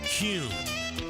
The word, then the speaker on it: Kuhn: And now, I'm going to share the absolute right way to pronounce Kuhn flowers. It's Kuhn. Kuhn flowers.